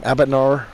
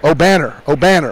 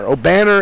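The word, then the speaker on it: Obanor: How do you say his name? Abanar? O'Banner. O'Banner is a young player that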